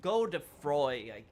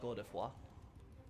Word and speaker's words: Godefroy: I mean, originally, when I first saw the term in English, I was like, oh, Godefroy, I guess, right? But apparently it's more like Godefroy.